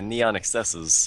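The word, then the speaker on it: NeonXSZ: mostly a game called neon excesses or neon xsz if you want to look it up the hell is that it say specifically to pronounce excesses so whatever I guess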